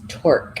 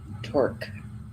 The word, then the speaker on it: Torc: Also, I think in Gaelic it's Torc, if I pronounce it right. Torc.